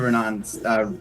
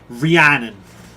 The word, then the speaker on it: Rhiannon: I think Aldrad will, like, as listening fully to Renan's, Renan? How do you say her name? Rhiannon. Rhiannon, thank you. I was saying it wrong.